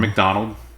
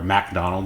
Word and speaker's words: Macdonald: comedian great canadian uh norm mcdonald or macdonald if you uh like the way that uh certain people pronounce it dave letterman not evil dave the real dave letterman or macdonald uh with emphasis on the mac but uh no no